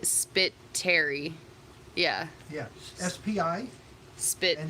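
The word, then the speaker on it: Spitteri: i guess it's pronounced spittari yeah the emphasis on the terry you pronounce my name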